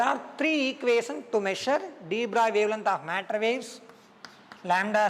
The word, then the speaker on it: de Broglie: So the de Broglie indicate actual pronunciation de Broglie.